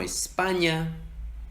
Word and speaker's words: España: La ñ simplemente se hace poniendo toda la lengua en la parte de atrás del paladar y haciendo el mismo sonido. Ñ. Se escucha en palabras como España, año, niño, señor o piña.